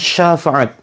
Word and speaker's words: syafaat: ya bukan syafaat tapi syafaat ya pakai syin bukan pakai Sin Sya Syafaat karena kalau kita mengucapkan